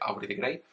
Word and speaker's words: Aubrey de Grey: Obviamente se pronuncia Aubrey de Grey, pero bueno, Aubrey espacio D-E espacio G-R-E-Y, como el libro de 50 sombras.